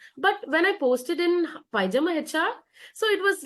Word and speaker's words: PyjamaHR: So every day, like in India, I'm using Naukri, but apart from that, like I have this Pajama HR.